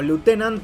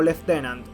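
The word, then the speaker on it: lieutenant: Y algo que se considera incorrecto es que Archi se refiera como lutenant a Aldo, porque un oficial británico lo pronuncia como leftenant.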